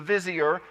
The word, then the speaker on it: vizier: over everything in egypt he became the vision or maybe you've heard it pronounced the vizier but i'm going to pronounce it visure and that's how joseph